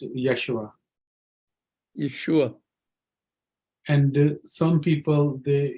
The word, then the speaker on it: Yeshua: Whereas the name Jesus is not really Yehoshua. It's, skip the H-O, it's Yeshua. It's a yod with a schwa, Shua, Yeshua. Okay, it's Yeshua. And it's one word, Yeshua. Yeshua. Put the accent on the end.